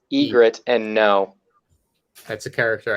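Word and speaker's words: Ygritte: Y Grit. It's Egret and no.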